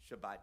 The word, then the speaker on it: Shabbat: Shabbat is the way that normally in America, the last 50 years or so, since the birth of the State of Israel, we pronounce it with a hard T.